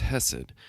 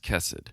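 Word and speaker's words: hesed: other and it's uh it's hessid or sometimes pronounced kessid love kindness.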